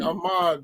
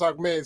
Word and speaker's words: Ahmed: I'm sorry, but guys, every time somebody come on the show, it looks like Ahmad, but it's pronounced Ahmed, so they just have a good time with that.